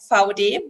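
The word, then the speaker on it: VAUDE: very short introduction of VOD. That's currently the correct pronunciation of our company's name.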